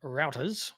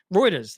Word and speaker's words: Reuters: a new report from routers routers rooters how do you say it in America router Reuters there you go that's the one that's